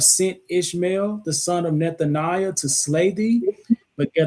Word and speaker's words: Nethaniah: Nethaniah. Nethaniah.